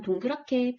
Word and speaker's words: 동그랗게: 우선 동그랗게 표준 발음 한번 생각해 볼까요? 3음절 받침의 히읗과 4음절 첫소리 기역이 축약되어서 동그랗게가 표준 발음입니다.